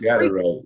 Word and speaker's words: Freakwincey: So it's Freakwincey.